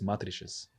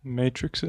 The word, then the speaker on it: matrices: And you can also uh calculate m I never know how to how to uh pronounce this in English. I think it's matrices matrixes.